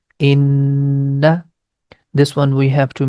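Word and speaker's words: إنّا: Whenever you see noon has shaddah sign, we are going to stretch the connection. The pronunciation becomes inna.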